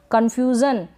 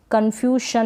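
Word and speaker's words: confusion: ये है कन्फ्यूज़न, क्या है कन्फ्यूज़न, कन्फ्यूशन ना पढ़े कन्फ्यूज़न।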